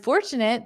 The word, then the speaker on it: fortunate: I'm fortunate that I can walk to work in under 30 minutes.